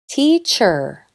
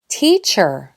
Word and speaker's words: teacher: It’s here, ch’r, ch’r, teach’r, almost like the E weren’t there. This vowel sound is strong, ee, “teacher”, but the last syllable is pronounced with that quiet, common sound, the schwa.